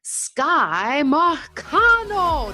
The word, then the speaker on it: Marcano: Please put your hands together for Sky Marcano. Did I pronounce that right, Sky?